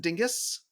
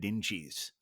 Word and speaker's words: Dinges: ever done have you ever done waffles and Dingus have you ever been to waffles and ding oh oh is that how it's pronounced I you know I I've always mispronounced